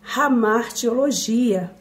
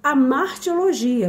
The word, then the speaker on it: hamartiologia: da nossa aula é hamartiologia alguns costumam falar hamartiologia porque uso o h Mas não tem problema qualquer uma das pronúncias está correta hamaro ou a martil